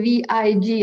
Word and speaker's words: vig: Sometimes the word is written V-I-K, but during the period of the Danish, what we call union or occupation of Norway, they pronounce the K a little more G, so it's V-I-G.